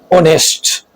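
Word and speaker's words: honest: ओ से पहले आने वाला एच साइलेंट होता है, जैसे आवर, इको, ऑनेस्ट।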